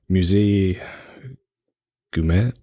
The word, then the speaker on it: Musée Guimet: in the museum, I don't know how to pronounce it. It's Musée Guimet.